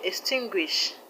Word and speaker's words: extinguish: The word extinguish, the stress is on TIN, tin.